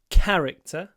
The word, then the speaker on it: character: is character describe his character remember to put the stress on the first syllable character C character uh